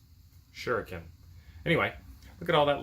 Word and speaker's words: shuriken: number six works and i've probably been pronouncing this wrong the whole time and you guys just been wincing every time i said it it is s-h-u-r-i-k shuriken and i've been calling it sheruken shuriken anyway look at